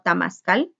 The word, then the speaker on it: temazcal: Por ejemplo, un indígena puede venir y tener un temazcal en su casa, otros lo pronuncian como tamazcal, no importa cómo lo pronuncie usted.